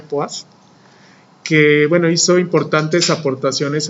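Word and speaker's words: poise: Bueno, este es el apellido de un científico francés, por eso se pronuncia poids, que bueno, hizo importantes aportaciones en la medición de esta propiedad.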